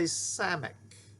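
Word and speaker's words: סמך: Okay, our next letter is a samic. A samic. Samic. It's the S sound, as in sin, sin, s, s, s, as in sin.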